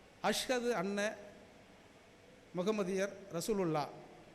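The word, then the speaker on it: أشهد: சரியா உச்சரிக்கல அஷ்ஹது அன்ன முகமதியர் ரசூலுல்லாஹ் இந்த அஷ்ஹது என்கிற இஷ் என்கிற சொல்லை அழுத்தி சொல்லணும் அஷ்ஹது அன்ன முகமதியர் ரசூலுல்லாஹ்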